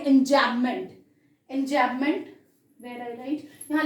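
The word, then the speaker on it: enjambment: हम बोलते हैं एंजैबमेंट, जब हम प्रोनाउंस करते हैं तो एम को बहुत ज्यादा स्ट्रेस नहीं देते हैं, बट ये अगर स्पेलिंग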